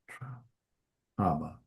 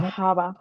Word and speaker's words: trabajaba: That means that you still have a j in there. Does that make sense? Mhm. So, you're not going to drop it. You're just going to drop um the ar. Trab aba.